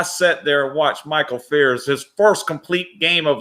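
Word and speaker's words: Fiers: Fucking Michael Fears got a good story. Michael Fears, if you guys know him, he's traveled. His name's spelled like Fires or whatever.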